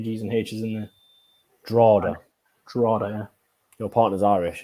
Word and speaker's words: Drogheda: It's pronounced Drada. Drada? Drada. There's a G and a H in it.